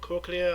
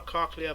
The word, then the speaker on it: cochlea: The other part of the ear, inner ear, is called cochlea or cochlea. Both of them are correct pronunciation, and that is for hearing.